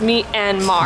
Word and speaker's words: Myanmar: We usually say it three syllables, Myanmar. But I think that's wrong. But we think it's wrong now, and it's supposed to be two syllables, Myanmar. So we don't know.